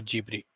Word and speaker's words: Ghibli: the expert over here is it studio ghibli or jubilee there you go that is how it's said in japan studio ghibli forgive me any japanese